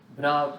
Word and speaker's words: bra: And then this over here is pronounced as bra B.